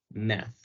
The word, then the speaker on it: math: Entonces vamos a tratar de pronunciar math como math.